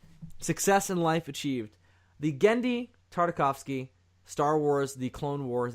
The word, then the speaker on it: Genndy Tartakovsky: So, next time, we're going to be doing the Genndy Tartakovsky, is that how you say his name? Did I do it right? Yeah. Woo! Success in life achieved. The Genndy Tartakovsky Star Wars: The Clone Wars animated series.